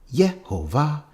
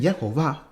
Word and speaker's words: Yehovah: on the Leningrad manuscript I all this Valmer yeah ova elohim Bioman yeah ova elohim and yeah oh my god ellaby said